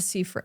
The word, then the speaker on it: Seyfried: Where it's completely different to someone like who's wide set that has like Amanda Seyfried. Is that how you say it? Amanda Seyfried, yeah.